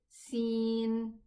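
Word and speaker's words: سين: So the letter is Sin and it is Sa with a Fatha, Si with a Kasra, Su with a Damma.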